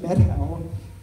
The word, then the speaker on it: Methow: They pronounced it Methow, even though it has an H.